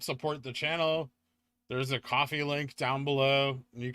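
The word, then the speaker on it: Ko-fi: 25 minutes Kofi yeah apparently it's pronounced coffee so I've been trying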